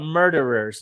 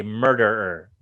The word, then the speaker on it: murderer: forget the er but it's super easy to make this mistake in speaking to not give the er er when you say murderer right it's a very easy pronunciation mistake even if you're in your head you're thinking murderer it's easy to come out as just murder so remember murder action